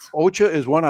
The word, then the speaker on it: ocha: i like a lot ocha is green tea and that's how you say it in japanese so my japanese green tea ocha see you learned a